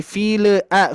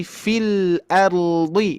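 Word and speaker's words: في الأرض: file a file a hati-hati bukan file tapi filard kalau kita lihat sedikit ini e untuk untuk meningkatkan kualitas cara baca lam ya lam sukun ini mengalir ya sedikit mengalir sifatnya tawasut filard jadi sedikit mengalir ya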